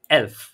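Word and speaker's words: elf: number eleven number eleven এটাকে ডেয়েছে বলে কি এলফ কি বলে এলফ এলফ নাম্বার 12 এটাকে ডয়েচে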